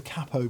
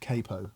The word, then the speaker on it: capo: We can finally put the capo pronunciation to bed. It is emphatically not capo, right? So many people of Italian origin have said it is capo.